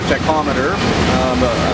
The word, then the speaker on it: tachometer: One of the other things that stopped working was our tachometer, that's how you pronounce it, the thing that measures our RPMs.